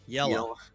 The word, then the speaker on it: Yela: Yela? Yeah. Yellow. It's like trying to say, well, it's actually how I say yellow, Yellow. like the color.